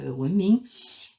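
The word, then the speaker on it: 文明: Et donc les Chinois se sont tout simplement emparés de ce mot qui se prononce simplement à la chinoise, voilà, Wenming.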